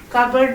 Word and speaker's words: cupboard: not coming but the actual spelling of coupled cupboard is number one c u p b o